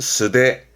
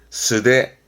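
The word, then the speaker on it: 素手: 발음은 스데, 스데.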